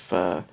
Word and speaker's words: pho: Pho, or looks like pho, but it's pronounced pho, is like this Vietnamese soup stuff that's all over Seattle.